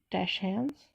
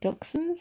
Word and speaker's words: dachshund: is one's from the book dash hounds or dachshunds however you want to pronounce it so we've got some